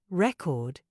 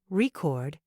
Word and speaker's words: record: stress the first syllable record it's a noun meaning a disc for playing music but if you stress the second syllable record it's a verb meaning to make a recording great example here's another